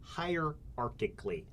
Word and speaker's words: hierarchically: Hierarchically.